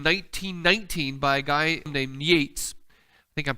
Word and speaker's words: Yeats: Interesting, there's one of my favorite poems written in 1919 by a guy named Yeats. I think I'm pronouncing his name right. Yeats.